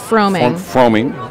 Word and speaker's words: Froming: I'm going to say it's Froming. Froming. Sounds like foaming, but froming.